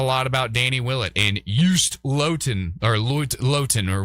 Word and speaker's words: Joost: And we talked a lot about Danny Willett and Joost Luiten or Luit- Luiten or whatever his name is. Joost like toast. Joost like toast.